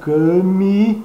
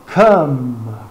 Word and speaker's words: come: Um E após um M também não se pronuncia. Porém, também a boca vai ter que ter um trabalhinho ali. Nesse caso, a boca se fecha, os lábios se fecham para se pronunciar um M ou um ME final.